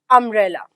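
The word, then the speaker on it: umbrella: और हम स्टेटमेंट लिख दें आई वांट डैश अंब्रेला। मतलब क्या हुआ? यहां पर भी ये यू से स्टार्ट हो रहा है। लेकिन इसका प्रोनाउंसिएशन कहां से स्टार्ट हो रहा है? अ से।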